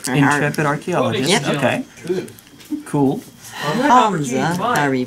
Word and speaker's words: Hamza: Hamza, however you pronounce that. Hamza.